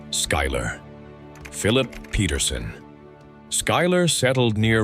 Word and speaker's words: Schuyler: Schuyler. Schuyler. Pronounced Schuyler.